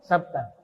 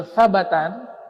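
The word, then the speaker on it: ثبتا: Dibaca huruf ba-nya dhammah, sabtan. Kalau sabatan itu sanad-sanadnya. Kalau sabtan itu orangnya. Ya, itu beda cara bacanya. Sabtan dengan sabatan.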